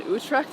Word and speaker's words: Utrecht: you were born in whose tract is how you say it born in Utrecht yeah even a smaller